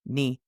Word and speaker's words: knee: K is silent before N. Night, no, knee, knuckle, knob.